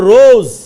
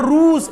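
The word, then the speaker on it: روز: ঠিক আছে, তারপর এখানে একটা শব্দ লিখছে দেখেন, রোজ। রোজ মানে গোলাপ না, দিন। কেমন রোজ? এটা রুজ এরকম না, রোজ।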